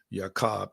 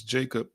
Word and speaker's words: Jacob: who was a father formerly known as yakob that we pronounce as Jacob and his sons were